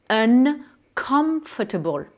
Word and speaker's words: uncomfortable: Inconfortable, ça donne en anglais uncomfortable. J'ai bien prononcé le N et le M.